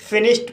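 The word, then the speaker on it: finished: फिनिश्ड फिनिश्ड word में एस एच का बाद इडी आया है और एस एच का उच्चारण श हुआ है। इसलिए डी का उच्चारण ट हुआ। इसलिए इसे फिनिश्ड पढ़ा जाता है।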